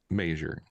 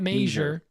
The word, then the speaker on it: measure: my bank account legitimately how do you say measure measure measure not majure not April Jer not juner not majure it's measure it's gonna be measure measure measure measure measure measure